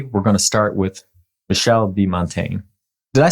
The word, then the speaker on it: Michel: know if I remember hearing his first name pronounced. Michel.